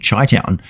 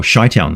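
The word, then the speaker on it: Chi-Town: in The Burbs of chai town oh shy town sorry I've been I've been viciously corrected on my pronunciation of Chicago shy Town um and they are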